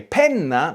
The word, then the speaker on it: penna: Che pena means what a pity, but che penna means what a pen.